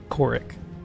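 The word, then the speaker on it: Khorik: but it's enough Carol of sand oh I could can you spell that for me please k-h-o-r-i-k -h-o-i-k yep korik you said kale of sand yep well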